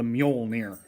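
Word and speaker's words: Mjölnir: The Volcanic peppers, the mighty Thor's hammer, or the Mjolnir, how it's pronounced.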